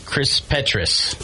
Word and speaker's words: Kris Petross: name wrong forever it's Chris petris yes and like like Kei said if you can't remember it it's like Tetris that's how I remember